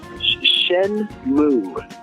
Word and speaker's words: Shenmue: Well, seeing that you're a big fan of Shenmue, how do we pronounce it? Shenmue.